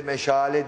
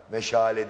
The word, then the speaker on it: meşale: meşaleyi çok güzel söyledim Türklerde bizim içimizde bile meşale diyenler var meşale değil meşale çok güzel eee bir diksiyonla güzel